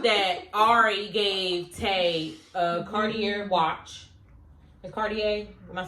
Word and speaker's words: Cartier: Basically, so they showed that Ari gave Tay a Cartier watch.